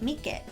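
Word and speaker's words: 三毛: the calico variation, called Mike Neko, literally translates to tricolored cat and is considered the luckiest. Interestingly, in Romaji, it's written as Mike but pronounced Mike.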